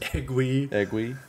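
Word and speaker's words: Eguy: the broadcast they've been we weren't sure how to pronounce his name if it was ug or I said eggwi but no at least on the broadcast I said eggy so we'll go with Aggie um but he's making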